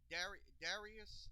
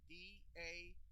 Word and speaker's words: Dairis: Okay, Darius, that's Dairis, Bertans, is joining the coming back to the Euro League where he was once played.